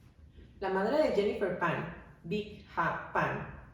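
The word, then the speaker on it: Bich: La madre de Jennifer Pan, Vic Ha Pan, la verdad es que se escribe B-I-C-H, o sea, Bitch Ha Pan, pero cuando yo estuve leyendo decía ahí que se pronunciaba Vic, entonces lo voy a decir así.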